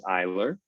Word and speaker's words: Eyler: My last name is Eyler, so pronounced like the I.